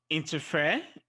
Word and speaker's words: interfere: on the nc level for example interfere is stressed on the fair engineer it is stressed